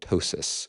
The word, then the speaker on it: ptosis: Do you have this funny word that begins with a P, where the P is silent, called ptosis?